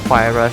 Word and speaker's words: Huayra: one Apollo N, 2 Huayras and 3 Veyrons. I'm still getting used to the correct pronunciation of the car. It's Huayra with a HE sound, yeah.